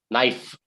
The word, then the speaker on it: knife: the bread with a knife knife fur f sound okay i slice the